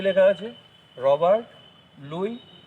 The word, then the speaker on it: Louis: তাহলে দেখো এখানে কিন্তু লেখা আছে লুইস, LOUIS, লুইস। এখানে এস কিন্তু সাইলেন্ট, অর্থাৎ এস এর উচ্চারণ আমরা করব না। লুই, তোমরা বিজ্ঞানী লুই পাস্তুরের নাম জানো, কখনোই লুইস বলো না, লুই বলো, কিন্তু তার নামের বানান কিন্তু এইটা।